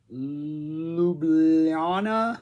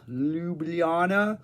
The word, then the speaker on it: Ljubljana: release Zappa 75 zagrib Ljubljana Ljubljana I don't think you pronounce Jay's I think they're like wise I might be wrong uh this came out